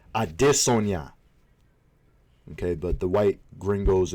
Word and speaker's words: Adesanya: We have Israel, as Luke Thomas would say, I dis Red Sonia. I believe how you say it is Adesanya.